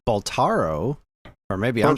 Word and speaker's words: Balatro: I thought it was Balatro because it's B-A-L-A. Maybe I'm saying it wrong. It's Balatro, and it's a Latin word.